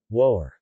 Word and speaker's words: wœr: Woer.